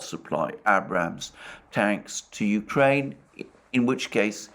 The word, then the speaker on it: Abrams: allies, unless the United States agreed to supply Abrams tanks to Ukraine. And by the way, I understand that the correct pronunciation of the name of that tank is